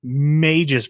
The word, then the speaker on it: Magus: Magus Bride. No, it's Magus.